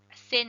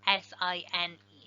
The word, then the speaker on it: sine: the sign ratio so sometimes mispronounced sin because it's s i n but that's just short for sine s i n e so the sine ratio